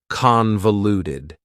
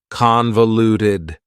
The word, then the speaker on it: convoluted: Convoluted also has four syllables and the stress is on the first syllable. Convoluted. That second syllable again has that schwa sound, that reduced vowel sound. Uh, convoluted.